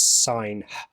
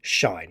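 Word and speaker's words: sinh: I don't think anyone, as far as I know, says sign, because that's a bit awkward, but I am going to say shine. That's, as far as I can tell, the most common pronunciation.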